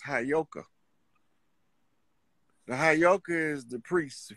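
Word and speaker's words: heyoka: like I know you that word is properly pronounced hayoka the hayoka is the priest for that to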